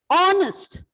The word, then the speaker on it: honest: Those words are here H is silent. Honest, H is silent.